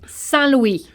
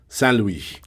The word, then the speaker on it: Saint Louis: Saint Louis. Saint Louis.